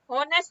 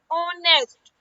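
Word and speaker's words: honest: होनेस्ट बोलते हैं नहीं। यहां पर यह एच क्या है आपका? साइलेंट हो जाता है। यानी इसको साइलेंट कर देते हैं। तो ये क्या बन गया? ऑनेस्ट ओ स्टार्ट।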